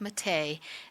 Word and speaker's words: Mathey: a portrait that was taken by Jackie Matei. Her name is spelled Mathey, but it's pronounced Matei.